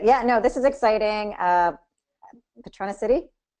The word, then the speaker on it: Patronicity: Patronicity? Did I say it right? Patronicity. Yep. Patronicity. Okay, I Like can get it now. patron of the city.